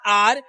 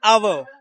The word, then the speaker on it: our: It's not R. Sometimes you know what happens? We think it sounds fancy, so it is right. That's wrong. Its pronunciation is our.